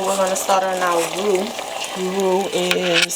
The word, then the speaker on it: roux: The water has significantly reduced, so we're gonna start on our roux. Roux is spelled R-O-U-X.